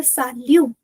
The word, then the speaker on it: salut: You can say sal which is hi or hello. You can say sal t you will not pronounce.